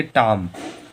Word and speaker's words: tomb: यहाँ पर एम जो जो बी है हम लोगों का वो एम के बाद में आ रहा है, इसलिए हम लोगों का बी फिर साइलेंट होगा।